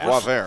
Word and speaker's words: Boisvert: Well, Sasha Boisvert. Boisvert. All right, I like that better. We're from Chicago. We pronounce every letter that's in every word, and we pronounce some that aren't there either.